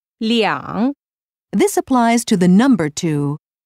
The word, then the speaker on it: 两: One note regarding the number two. When you use two as an amount, although the written word stays the same, the pronunciation changes to 两.